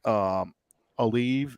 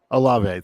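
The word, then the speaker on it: Olave: Aleve is how you say his name. Alave, thank you.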